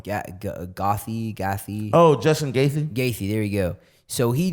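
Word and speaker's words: Gaethje: his face said just one who just won Guffey right or how you say his name leave them on ya gothy Goffe Oh Justin Casey there you go so he just wants so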